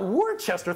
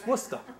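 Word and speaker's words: Worcester: oh wora I said no Worchester three syllables to ours and she said as sure as my name is kala that's wora so it's W so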